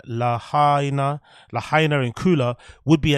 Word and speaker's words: Lahaina: adult resident who was displaced by wildfires in lyanna as I said it right Lahaina Lahaina and Kula would be eligible to receive